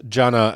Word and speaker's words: Jannah: So also take care not to mispronounce Jannah as Jannam, which, as we will explore in a future segment, is the Islamic word for hell.